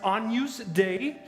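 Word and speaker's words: Agnus Dei: it's not about a lady named Agnes it's pronounced onuse day which is Latin for lamb of god so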